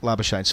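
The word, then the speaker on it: Labuschagne: uae in 2018 he's he said if you can pronounce my name in the afrikaans why you should do so and if you can't lavashone's fine so being the way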